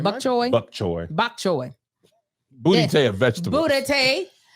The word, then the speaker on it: bok choy: BOK, and then Like wok. Choi, CHOY. Bok choy. No, CHOI, I believe. What was I saying? Bok choy.